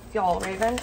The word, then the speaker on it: Fjällräven: This brand is spelled F-J-A-L-L, Fjällräven.